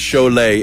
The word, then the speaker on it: Cholet: That word is pronounced Cholet. It's actually the S in Lithuanian font would have a little check on top of it. Right. But because it's an American font, we left it off.